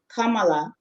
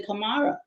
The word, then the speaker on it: Kamara: Just like we know the Maninka name Kamala is spelled Kamara. So modern West Africans say Kamara because we've been, exposed to the letter R sound. And because of the people who originally wrote this, would spell it with an R, we would say Kamara.